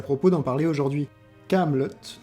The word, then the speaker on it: Kaamelott: Kaamelott, donc, avec 2 A pour rappeler les initiales d'Alexandre Astier, et 2 T pour qu'on les prononce et que cela nous évoque la camelote, qui est un objet de piètre qualité.